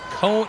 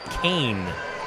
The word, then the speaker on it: Cone: By the way, RD, I just had a English Valleys fan let me know that Cone, like what you're saying is cone, is actually pronounced cane.